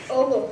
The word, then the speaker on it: Oglethorpe: She is correctly pronounced Oglethorpe.